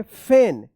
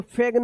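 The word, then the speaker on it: feign: फेन। इसको फेग्न या फिग्न मत पढ़िएगा।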